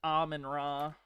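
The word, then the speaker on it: Amun-Ra: Pretty sure it's pronounced aman rah.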